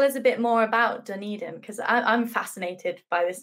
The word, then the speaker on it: Dunedin: Tell me if I'm pronouncing this wrong, but is it Dunedin? Is that, no, is that... Yeah, that's correct.